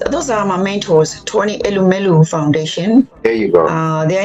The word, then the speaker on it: Elumelu: And also the Tony how do you pronounce the name? I know Tony Emelo Foundation. Yes, those are my mentors, Tony Elumelu Foundation.